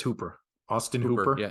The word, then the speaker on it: Hooper: I pulled Tennessee's uh Hopper uh Austin Hopper Hooper however you want to say his name is the Hooper I think it's Hooper Austin Hooper yeah it's double O but it's Cooper um oh yeah so